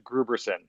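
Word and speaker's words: Grooberson: that uh paul rudd's character is uh mr gruberson now that's the correct pronunciation of his name okay thank you for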